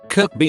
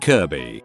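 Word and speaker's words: Kirkby: Kirby is another one near Liverpool pronounced Kirby K B like the Nintendo character.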